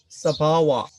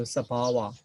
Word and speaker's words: sabhava: Then Sabhava. So I just pronounce to introduce you the Pali pronunciation. So Sabhava, the own transit nature.